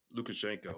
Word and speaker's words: Lukashenko: Lukashenko, I Yeah. believe is how you pronounce his name, and he's been there for a long time.